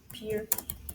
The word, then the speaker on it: Pierre: So it's not pronounced Pierre, it's pronounced more like Pier. There's a stick capital. It's spelled like Pierre, but pronounced like Pier.